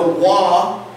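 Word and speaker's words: ו: Now remember, myself and Benner, and I believe Brad Scott as well, believe that the Wah is the more proper pronunciation anciently.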